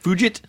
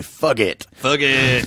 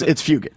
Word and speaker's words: Fugit: It's Patrick Fugit. I like to say "fug it," but it's I don't know. No, it's Fugit. Fugit. Yeah, it's hard G.